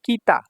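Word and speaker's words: 北: তারপর দেখুন 59 নাম্বার যে কাঞ্জিটা আছে এটা হচ্ছে কিতা। কিতা। কিতা মানে হচ্ছে উত্তর। এটার চাইনিজ উচ্চারণ হলো বকু। বকু। ঠিক আছে? তো এখানে দেখুন কিতা।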